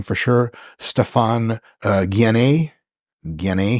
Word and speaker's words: Guyenet: name for sure, Stefan Guyenet, he says pronounced like DNA. I would just say Guyenet because I'm American.